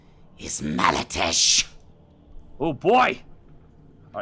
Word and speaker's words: Malatesh: my return what's your name my name is Mara Tesh oh boy all right real fast I want